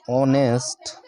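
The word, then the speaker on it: honest: इधर सी is dash ऑनेस्ट ऑनेस्ट teacher ठीक है अब यहां पर देखिए यहां पर एस क्या है आपका साइलेंट है जब आप इसको लिखोगे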